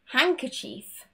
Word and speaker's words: handkerchief: Moving on to the letter D, and this is when we have an N next to the D. For example, handsome, handsome, handkerchief, handkerchief, sandwich, sandwich. There's no D in any of these words.